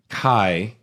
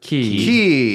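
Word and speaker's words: χ: If you want to talk about like cool big releases, Kingdom Hearts Kai or Key or X, depending on the pronunciation that they all use.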